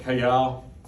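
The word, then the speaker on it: Cajal: with this cells up kayell t-a-j-a-l it's the spanish pronunciation the j do i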